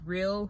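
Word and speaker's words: Rael: I also use Real. Real is spelled R-A-E-L.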